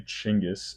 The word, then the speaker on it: Chinggis: But since this is a factually accurate history podcast, we're going to go with the original Chinggis pronunciation.